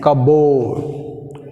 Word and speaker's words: cupboard: W letter is silent. Next word, 29th. What is the word? 29th? Cupboard.